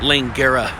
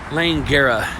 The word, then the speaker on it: Langara: area which is called Oh I said it wrong if Lane Guerra Langara this here I'm starting